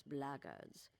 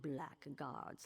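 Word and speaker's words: Blackguard: If you're another one of those blackards, and that's the way to pronounce it, not black guards like that thug insisted it was, then my answer is the same.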